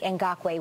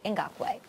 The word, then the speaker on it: Ngakoue: And it's friend of the show, 2-time friend of the show now, Yannick Ngakoue.